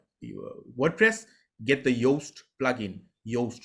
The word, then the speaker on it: Yoast: Yoast, you spell it like toast, but you use the Y.